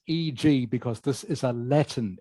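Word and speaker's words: e.g.: see this written down you just say EG you don't need to say for example just say EG okay and this last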